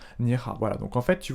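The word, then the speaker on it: 你好: Donc bonjour en mandarin ça se dit ni hao, ni hao.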